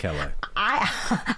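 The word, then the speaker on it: Callais: No one knows how to pronounce it, but I think Great. it's Calais.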